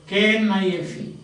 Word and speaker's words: knife: K-N-I-F-E, simple words. And you pronounce it as knife.